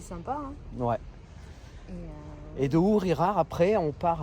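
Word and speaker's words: Ugíjar: Dans toutes les vidéos, je me trompe, je me dis Ugirar et en fait, ça se prononce Ourirar.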